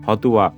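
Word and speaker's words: হত্বা: বর্ণ সেখানে চলে আসতেছে ফলে ত এর উস্কার দেখো দিয়েছি অন্তস্থ অয় আকার ঠিক থাকলো তাহলে হতা এই শব্দটির শুদ্ধ উচ্চারণ হয়ে যাচ্ছে হতুয়া এরপর দেখো অর্থ কামান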